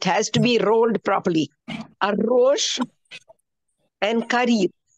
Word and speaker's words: arroz: Arroz and carillo. Carillo is curry. You are noticing these words that end with L, R, and Z, they are stressed on the last syllable. Carillo. And you say carillo.